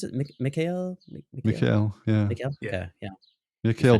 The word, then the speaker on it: Mikhail: How do you pronounce it? Mikhail? Mikhail, yeah.